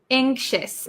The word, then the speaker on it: anxious: pronunciation of anxious anxious anxious it has an X right so it looks pretty difficult to pronounce anxious anxious okay oh